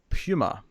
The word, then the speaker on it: puma: before we start with this episode the correct pronunciation of the feeling wailed cat animal is Puma um II as a puma where's Tara if